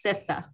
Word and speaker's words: CISA: And Jim, I love you, man, but it's pronounced CISA.